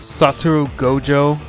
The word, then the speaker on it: Satoru Gojo: Satoru Gojo, that's how you pronounce the name.